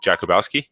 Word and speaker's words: Jakubowski: me if I mess up your last name Jakubowski dare I say it right got it man